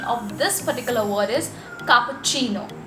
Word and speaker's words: cappuccino: type of coffee which is cappuccino normally we pronounce it as cappuccino but the correct pronunciation of this particular word is cappuccino it's cappuccino that's the correct pronunciation of cappuccino now this